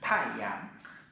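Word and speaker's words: 太阳: Cái này bạn đọc là thái, bởi vì nó là thái, thái dương. Chữ dương thì là cây liễu, bên cạnh là bộ nhật, nên bạn đọc là dương.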